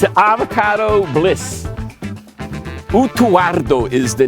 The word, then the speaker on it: Utuado: Yeah, it's spelled U-T-U-A-D-O, but I think it's pronounced more like the Spanish, rolling the R. Utuardo. Yes. I think so, but I'm not sure. They just skip over the D. Yeah, the R is too hard for people to pronounce, so they just left it off.